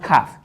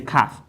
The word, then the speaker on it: cough: makes it oh san cough not calf i'm going to say kaf now this one is